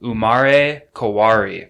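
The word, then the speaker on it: umarekawari: be the japanese word for reincarnation it is umare kawari spelled u-m-a-r-e-k-a-w-a-r-e r-i sorry that's a long word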